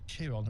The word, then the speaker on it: Chiron: In Greek mythology, there was a centaur called Chiron, or Chiron. It's actually spelled Chiron, but pronounced Chiron.